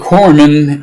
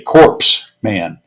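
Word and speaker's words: corpsman: PS M A N A lot of people say corpse man and that's incorrect because it signifies a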